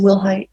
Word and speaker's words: Wilhite: And are you Wilhite? Yes, ma'am. Am I pronouncing your last name correctly? Yes, ma'am. Will Height.